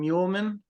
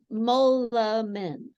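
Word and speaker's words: Mühlemann: you pronounce your last name Muleman? No, Molamin. Molaman. Okay, like Molamin. three syllables. Okay. 3 syllables.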